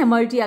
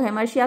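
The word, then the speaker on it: hamartia: क्या कहा जाता है इमर्टिया कहा जाता है कुछ लोग हेमिसिया भी बोलते हैं लेकिन हमारे यहां सही शब्द है मतलब स्पेलिंग वही है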